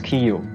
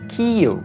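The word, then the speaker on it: Kyiv: kyo-ahn tanita April 2006 I learned the pronunciation this time ok many cannot pronounce key you key you and who is only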